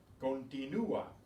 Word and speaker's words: continúa: Continúa, continúa. Notice how that makes ua, not wa, but ua, because you pronounce that U separately.